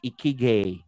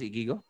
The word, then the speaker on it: ikigai: Gitawag ni sa mga Japanese og ikigai. I don't know, sakto man pagka-pronounce ikigo? Dili ay ikagai.